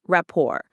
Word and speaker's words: rapport: That's pronounced rapport. It's a beautiful word from French.